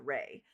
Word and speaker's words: Ra: And for me, I was raised saying raw, but apparently that's like a Americanized way of saying it.